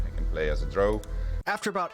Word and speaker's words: drow: it even started because I pronounced drow as dro. Fatal mistake.